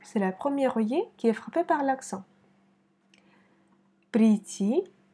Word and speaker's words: прийти: Прийти, on met l'accent sur la dernière i, к вечеру. Вечеру, c'est la première i qui est frappée par l'accent. Прийти к вечеру.